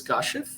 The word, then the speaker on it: Kashif: My first name is pronounced as Kashif, but I go by Kash.